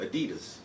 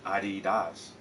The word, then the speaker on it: Adidas: Europe somewhere and they having a debate about Adidas and how to say the the proper way to say Adidas is it Adidas or is it ad dies and she said well we just going to